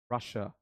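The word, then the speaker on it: Russia: आर you from रशिया? हम रशिया नहीं बोलते। बहुत सारे लोग क्या बोलते हैं? रशिया। रशिया नहीं बोलते। हम बोलते हैं र ये इसकी पोनेटिक फनेटिकली करेक्ट प्रोनंसिएशन है। क्या बोलेंगे? रशिया।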